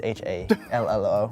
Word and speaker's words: hallo: It's H-A-L-L-O.